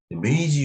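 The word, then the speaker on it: 明治: 메이지 유신이 이라고 얘기하죠 왜냐면 내 요즘은 그 표기를 현지 바로 물이 이제 고유명사 현지 발음을 우선한다는 폐 있기 때문에 어 명치 주시는거 자는 이제 메이지 으히 라고 얘기를 하고 있습니다 어 그래서 이제 이유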